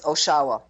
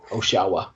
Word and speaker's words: Oshawa: It's Oshawa. Oshawa. Oh, we were having a conversation beforehand about how you pronounced it.